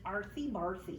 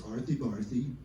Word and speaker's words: Arthi Barthi: is because it says Arthi Barthi on it. Yes, like the Swedish the inscription has the Old Norse words Arthi Barthi. Yeah, it would be that because it's the emphasis on the first syllable.